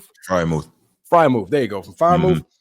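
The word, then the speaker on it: Freiermuth: I can never pronounce his name right. Frymouth.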